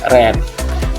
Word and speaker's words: read: Dan kita bacanya bukan read tapi read.